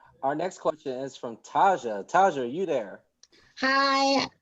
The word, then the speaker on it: Taja: Our next question is from Taja. Taja, are you there? Hi. Remember, you keep pronouncing her name wrong. It's fine. Taja. Oh, Taja.